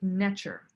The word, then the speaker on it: ntr: deity and they were called nature ntr but pronounced nature and this is like the true essence of